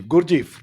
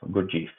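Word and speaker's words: Gurdjieff: you picked that book uh uh of gurji gurjeev did I pronounce that correctly yeah it's g-u-r-d j i e f f good chief good Chief so between that time when venkatraman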